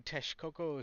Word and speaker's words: Texcoco: welcome to the minions of the zoo the Tes Coco side of the arcade and yes that's how you pronounce it uh part of the Triple Alliance